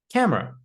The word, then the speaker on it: camera: A lot of students pronounce it like But we shouldn't pronounce the e in the word camera. It's just camera.